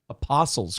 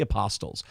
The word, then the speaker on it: Apostles: Apostles' Creed, not the Apostles. You don't pronounce the T in Apostles.